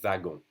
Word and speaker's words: wagon: Un wagon, it's pronounced just like a V. Un wagon.